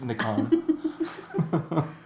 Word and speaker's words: Nikon: I say it properly. It's Nikon.